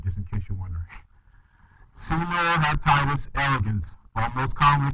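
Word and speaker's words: Caenorhabditis: so this animal senior hepatitis that's how you pronounce that word just in case you're wondering senor hepatitis elegance almost commonly called c elegans all right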